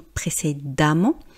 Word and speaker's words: précédemment: Vous avez peut-être remarqué le son, donc on va voir ça sur l'autre page, la prononciation. Vous voyez, j'ai pas dit précédemment ou différemment, j'ai dit précédemment et différemment. Et pourtant, on ne voit pas de lettre A.